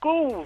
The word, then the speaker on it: ghouls: How do you pron What do you mean I can't pronounce it? It's ghouls.